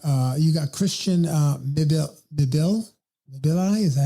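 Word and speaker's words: Mbilli: You know, you've got uh you got Christian uh Mibili.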